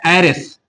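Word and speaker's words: heiress: Consonant letter से, लेकिन इसका जो उच्चारण होता है एरेस, एरेस। एरेस का मतलब होता है उत्तराधिकारिणी, जिसकी एक पुत्री हो उसे हम लोग बोलते हैं एरेस। इसमें डबल एस होगा। चलिए इसके पहले आर्टिकल एन, क्योंकि इसका जो उच्चारण है वोवेल साउंड से हो रहा है।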